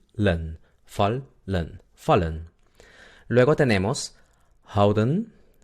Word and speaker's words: houden: Luego tenemos houden. El sonido de la H no se olviden.